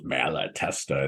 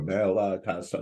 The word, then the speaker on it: Malatesta: It's kind of cool how it flows. Malatesta. It's how many vowels are there? Malatesta, like 4 vowel or 4 syllables in it.